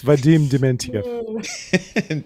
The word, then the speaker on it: Vadim Dementyev: I hope I pronounce it right. You made me nervous now. It's Vadim Dementyev. There it is, ladies and gentlemen. Vadim Dementyev.